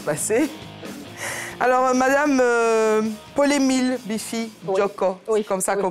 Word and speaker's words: Djocko: Alors, Madame Paul-Émile Biffy Djoko, oui, c'est comme ça qu'on prononce.